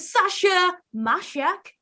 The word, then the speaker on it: Sasa Macek: And I'm joined here with Connor Ball and Sasa Macek. That is how you pronounce it.